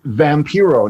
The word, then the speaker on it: Vampiro: life man and it's it's vampiro not vampiro i had to say that that's why we're smiling because it was a joke my whole career that nobody can say it right so how do you say it vampiro vampiro vampiro it's vampire in spanish vampiro vampiro so let's